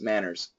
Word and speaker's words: manners: Manners. Manners. Manners. Hers. It's got to be Z.